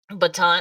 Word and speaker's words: Baton: name is your last name is Baton baton baton I got you uh it's spelled like baton like the weapon and you have in